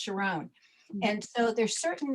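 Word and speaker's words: Sharón: There's actually Sharon in every country, just pronounced differently, like mine is pronounced Sharon.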